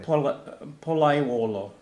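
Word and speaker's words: Pollaiuolo: Palaiuolo. Okay, that's I cannot pronounce that name.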